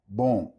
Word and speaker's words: bom: Bueno, bom. The M is pronounced like an N.